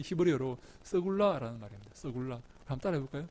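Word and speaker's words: סגולה: 여러분이 소유란 말이 무슨 말인가 하면요, 이 히브리어로 서굴라라는 말입니다. 서굴라. 한번 따라해 볼까요? 서굴라. 야, 여러분들이 발음이 얼마나 좋은지 모르겠습니다.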